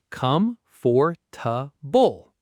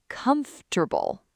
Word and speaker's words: comfortable: Come, for, ta, bull. 4 syllables, all pronounced. But native speakers actually say comfortable, 3 syllables, or sometimes just comfortable.